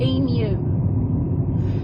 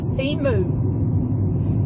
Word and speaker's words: emu: this big bird called emu and the way they pronounce it was b mu it is spelt b m u and it's e mu you're like a new